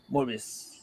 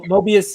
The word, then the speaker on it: Morbius: Mor what however you say his name morbius not Mo Mobius is the uh the guy from the TVA morbius is the vampire oh okay Little Ghost